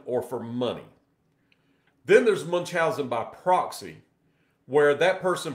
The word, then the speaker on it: Munchausen: Some people will pronounce it different ways, but it's Munchausen, whatever you want to call it.